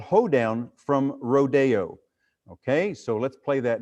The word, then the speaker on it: Rodeo: Now, we kind of pronounce it rodeo. I think that's the fancy way to pronounce it, but it's really rodeo.